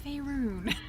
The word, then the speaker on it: Faerun: scene with lae'zel Dapper where you correct her pronunciation. No, it's Faerun.